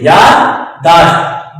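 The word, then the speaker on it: یادداشت: نہیں، یاداشت نہیں، یاداشت، دال کو آپ کلیئر پڑھیں گے، یاداشت، دو ہیں لفظ یہاں پہ، یاد اور داشت۔ اسی طرح کہتے ہیں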